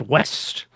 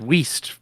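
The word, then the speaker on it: Wiest: I believe that's pronounced West. I don't know that for certain. I'm sure you said Waste because it's spelled differently. It is spelled W I E S T.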